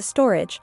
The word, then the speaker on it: Storj: Storj, pronounced as a storage, is an open-source cloud storage platform.